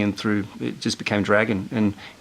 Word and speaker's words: Dragan: it's Croatian, and you pronounce it Dragan. And really, in Croatia, if you look at the meaning, it sort of means sort of dear one, like Dragan. And so Dragan, when I came to Australia, I was 6 when I came here, and they looked at the spelling, and it's spelt sort of like dragon, and everyone sort of just said it was dragon.